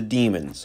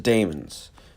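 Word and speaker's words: Dæmons: season 8 finale in the demons or the Damon's it really depends on how you pronounce it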